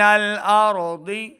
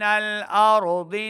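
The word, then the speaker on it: الأرض: ضاد زیر ضی، ضاد کی آواز کو لمبا بھی نہیں کرنا اور ضاد حرف مستعلیہ سے موٹی آواز کے ساتھ پڑھیں گے.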